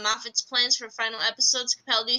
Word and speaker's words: Capaldi: 12th Doctor and surname that rhymes with Garibaldi, Peter Capaldi, has revealed that Stephen